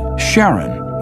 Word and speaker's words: Charon: preferred to pronounce it Charon more like his wife's name Charlene from the motions of